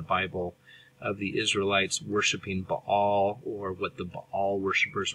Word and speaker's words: Baal: to talk about is Bal it's a two syllable word with a glottal stop in the middle sometimes pronouncing Bale or ball um ball is the